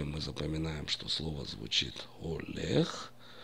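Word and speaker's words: הולך: Вот, например, я возьму слово олех. Олех. Буква хей первая, я произношу ее олех. Кому трудно произнести, можно сказать олех, проигнорировать этот звук.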